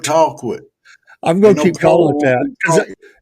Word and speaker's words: Colquitt: They already give me a hard time down there in Colquitt, call Georgia. quit, not cold quit, call quit.